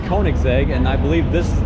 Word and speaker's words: Koenigsegg: It's Koenigsegg, and I believe this is the Jesco, and it is a turbocharged 3-cylinder that makes about 1,000 horsepower.